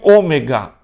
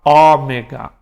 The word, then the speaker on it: ômega: E o ômega, alguns vão falar ômega. Na pronúncia erasmiana a gente fala fechado, ômega.